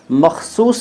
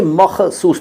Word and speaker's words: मख़सूस: में तुर्की भाषा में मख़सूस किसे कहते हैं तो नदीम अली मख़सूस पहले इसका उच्चारण देखिए मखसूस नहीं होगा आपको लिखना तो ठीक